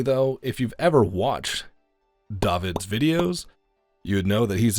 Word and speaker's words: Dawid: by senpai next up on the chopping block david does tech stuff and yes that is how you pronounce the name so you know just for